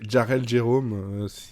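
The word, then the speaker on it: Jharrel Jerome: En tout cas, pour le Jérôme que tu n'as pas respecté, on va juste prononcer Jarrell Jérôme. Voilà, c'est quand même pas compliqué. C'est le JH qui t'a perturbé ou...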